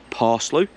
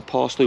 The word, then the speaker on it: Paslew: name was John and I think it's pronounced parsley p-a-s-l-e-w I'll put his name